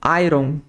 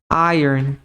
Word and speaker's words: iron: essa palavra em inglês normalmente a maior parte das pessoas fala como Iron mas em inglês ela tem um som diferente ela tem um som de ir Iron Earn mesmo Iron por isso